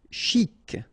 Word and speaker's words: chic: Chic. Okay, you pronounce the final C and then CH together. Sh. Chic.